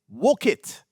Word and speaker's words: Wolcott: The first thing we need to go over with this town is the pronunciation. You don't know how many people call in and say, I want to go see a house in Wolcott or Wolcott. It's Wolcott. Wolcott. So let's get that straight.